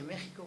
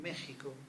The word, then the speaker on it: México: No queda más remedio que reconocer la multiplicidad de soluciones gráficas para transcribir el topónimo México, cuya X reflejaba el sonido sh del topónimo en náhuatl.